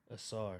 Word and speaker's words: Ausar: Ausar. Ausar Thompson, that's right.